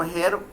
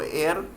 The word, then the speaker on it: heir: एयर का spelling जो HEIR है, उसको हेयर प्रोनाउंस नहीं करते, तो एयर, ही is imprisoned and